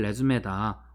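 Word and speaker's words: résumé: 이거 리이라고 읽을 수도 있겠지만 예 레즈메입니다. 레즈메 원래는 요렇게 씁니다. 여기에 이렇게 방점이 찍혀 있어요. 레즈메고요.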